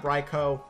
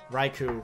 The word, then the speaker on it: Raichu: his options are Garchomp raicho Gyarados or he brings in the con Raichu I can't pronounce that thing to save my life H it's Raichu okay okay cool interesante what